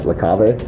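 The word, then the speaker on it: La Cave: today at lake cave i don't think it's pronounced the cave i should believe it's like lacave but i'm going to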